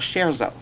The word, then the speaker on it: Scherzo: And also, the name of that comedy channel is called Scherzo. And it's spelled SHARE and then ZO.